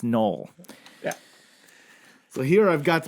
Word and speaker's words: Noel: It's a very unique pronunciation and spelling of Joel, as in that it's spelled with an N and pronounced Noel.